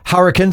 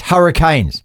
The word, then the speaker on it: Hurricanes: It's not hurricanes, it's hurricanes.